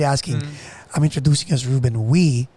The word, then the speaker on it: Uy: i realized that there were wees so the real technical way to pronounce it is like we but with a glottal stop like we so it's